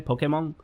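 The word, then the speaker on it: Pokémon: super into Pokemon Pokemon I don't know how to pronounce it in English I'm I live in Japan and I never played the game and never really talked about it in the US at all so I pronounce it the Japanese way Pokemon but people make fun of me for that so whatever okay look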